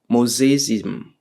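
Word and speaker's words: mosaicism: And this uh would indicate uh mosaic mosaism if we uh it's it's it's called mosa mosaims something to that effect.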